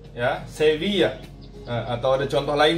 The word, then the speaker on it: Sevilla: 2 L itu biasa kita sebut dengan Y.